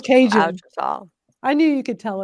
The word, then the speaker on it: Ouachita: Oh, and this is how you pronounce it, Ouachita. That sounds Cajun. Ouachita. I knew you could tell us how to pronounce it. Ouachita.